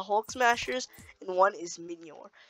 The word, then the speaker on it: Mjolnir: One is the Hulk Smashers, and one is Minyor. It's pronounced Minyor, not Minyor.